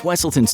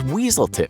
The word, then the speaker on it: Wesselton: you missed this in frozen the duke of wesselton's name is mispronounced as weaselton while in zootopia the character duke weaselton's name